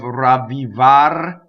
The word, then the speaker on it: ravvivar: surrounded by vowels, but ma is a strong monosyllable, so this makes an exception. So you can roll all the R's in this word, but make sure you get the double V too.